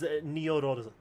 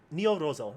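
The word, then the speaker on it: ニョロゾ: But you pronounce his name as Nyorozo. Nyorozo.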